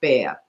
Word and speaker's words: Bexar: Bexar is pronounced bear. So and the X is silent.